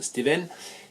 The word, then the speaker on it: Stewen: Ça s'écrit S-T-E-W-E-N, ça se prononce Steven.